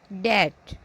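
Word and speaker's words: debt: इसमें बी नहीं पढ़ा जाएगा कॉम क्रम बी साइलेंट है डेट डेप नहीं डेट बी नहीं पढ़ा जाएगा बी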